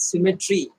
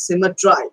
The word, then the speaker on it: symmetry: See, generally we pronounce it as symmetry, but we have to rhyme the lines. That's why we say it's symmetry.